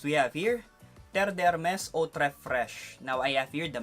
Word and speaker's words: Eau Très Fraîche: Eau Très Fraîche, and many commented that I pronounced it wrong. So I think this time I got it right already. Terre d'Hermès Eau Très Fraîche.